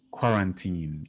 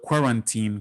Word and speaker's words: quarantine: Interestingly, in West Africa, before coronavirus struck, most people pronounce the word quarantine, quarantine. But the correct pronunciation, as we now see, and even as we have learned around this time, is quarantine, not quarantine.